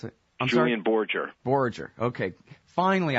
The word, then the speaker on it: Borger: Borger. Okay. Finally, I know for a fact it's a soft G.